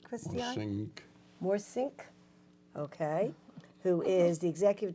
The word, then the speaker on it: Morssink: Morssink.